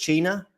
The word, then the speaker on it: Cina: Is it Cina? Yeah, it is Cina. Yes. Yeah. That is the pronunciation.